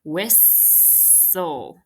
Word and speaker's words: whistle: constant l e exception whistle we have constant l e exception so make sure we Mark that just like we did with castle and you're Crossing off again both the silent T and the silent e it's gram bull constant